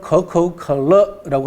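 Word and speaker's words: 可口可乐: 중국 발음으로는 커커컬러라고 합니다. 코카콜라하고 발음은 거의 비슷하죠. 그죠?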